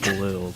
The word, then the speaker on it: BluhEw: It's pronounced blue, but it's written out BluhEw, you know?